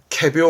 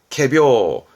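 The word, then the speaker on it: 仮病: 거짓된 병이네 우리말로는 꾀병입니다 발음 또한 챙기세요 캐비어 합니다 캐 캐비어 비슷하죠 발음이 캐비어 그래서 꾀병인가 봐요 꾀병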